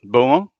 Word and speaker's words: Beaumont: me thanks for coming do I have the pronunciation of your last name correct what buo yes yeah yeah yeah there you go want